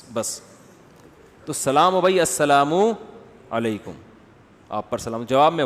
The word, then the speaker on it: السلام علیکم: السلام علیکم اور صلی اللہ علیہ وسلم کا صحیح تلفظ بتا دیں. السلام علیکم کا ہے السلام علیکم, جو آج کل لوگوں